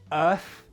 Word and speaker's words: earth: Earth and arse. When you don't pronounce the th properly, earth really sounds like arse, so you need to practice it.